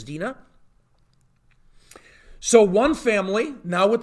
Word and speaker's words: Dinah: You would say Dinah. Her actual name is actually Dinah, so I'll be using that pronunciation. It's Dinah.